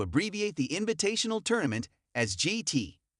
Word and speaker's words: JIT: Ken has opted to abbreviate the invitational tournament as GT, pronounced with a soft J, rhyming with bit, rather than stating the full tournament name outright.